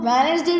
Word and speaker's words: Wednesday: अब हम इसको Wednesday रीड करेंगे बिकॉज डी जो है साइलेंट है, बट राइट हम ऐसे ही करेंगे.